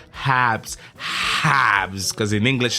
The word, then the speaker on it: Habs: code ABS H abs abs Habs Habs cuz in English it's not abs abs big ABS no Habs you need to pronounce the h HS it's like the